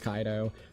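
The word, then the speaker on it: Kaito: I I see the name and I say it like Kato. So you say Ko. His name is Kaido. The way that you do pronounce it is Kaido.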